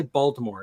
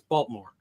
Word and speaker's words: Baltimore: Same with Baltimore. You don't say Baltimore; it's Baltimore.